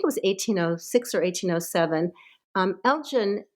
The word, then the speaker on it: Elgin: Elgin, or I think his name perhaps is pronounced Elgin, was an ambassador to the Ottoman Empire.